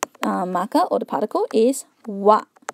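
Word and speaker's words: は: Even though we write it as ha, for ha ha ha, there's a hole in the cake, we have to pronounce it as wa when it is used as a particle.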